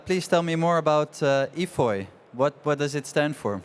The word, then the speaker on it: EFOY: And please tell me more about EFOY. What does it stand for? Am I pronouncing that right?